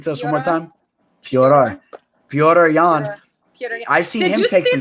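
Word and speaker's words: Petr Yan: Pyotr Jan.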